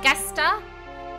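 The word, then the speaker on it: Gestahl: zero the hidden hey is it guester i think so hard g not a j for a jester i don't know we'll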